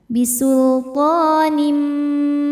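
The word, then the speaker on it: بِسُلْطَانٍ: Lamnya lam mutlak ya, lam sukun tidak menghadapi lam ataupun ro, maka lam dibaca dengan jelas. Bisultanim.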